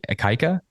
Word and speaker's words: Ikaika: This is Gavin from Still Proud, and with, if I'm pronouncing this correctly, Ikaika?